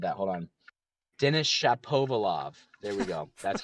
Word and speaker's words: Denis Shapovalov: He's got Denis Shapovalov and I butchered that. Hold on. Denis Shapovalov.